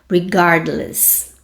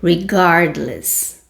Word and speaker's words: regardless: fica regardless of Ok preste atenção na minha pronúncia regardless ok regardless ok silaba tônica regardless of que significa em